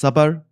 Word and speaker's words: Sabr: I am the host of Sabr Path. That's pronounced Sabr, like if it was spelled with a U, but I spell with an A because that's how we spell it.